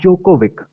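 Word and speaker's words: Djokovic: तो अगली न्यूज है नोवाक जोकोविक, नोवाक जोकोविक, ये जो डी है इनका साइलेंट है, ध्यान रखना है, डी साइलेंट है, ठीक है।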